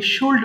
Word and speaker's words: should: করেন আই শুড write এখানে ভুল করে অনেকে শুড পড়ে ফেলে অনেকের ভুল হয় এটা কিন্তু এল এর উচ্চারণ হবে না this is a silent letter so simply আমাদের বলতে